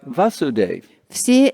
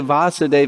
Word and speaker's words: Vasudev: sora Young's Ibaka surah those are killed by vaso de see it's Gemini be little bit of acid excuse me I mispronounced Vasu Dave there kid there's the Vasudev expansion of Krishna Aniela it's expensive acid even